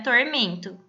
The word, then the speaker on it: tormento: No caso do primeiro verso, a palavra era tormento. Qual é a sílaba mais forte? É o men.